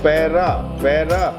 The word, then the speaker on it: Paida: Now, the unique thing about this word is it is written Paida, but it is pronounced Paira. Paira means feet. You see, the Buddha when he was born, he landed on the ground on his own feet. So that is what it is written as Paida, means birth, and Paira means feet.